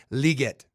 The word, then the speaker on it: Legette: It's actually Xavier Legette. Xavier Legette. So there's a French, Cajun, Creole, whatever.